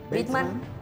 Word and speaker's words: Bateman: Y bueno, fue protagonizada por Jason Bateman.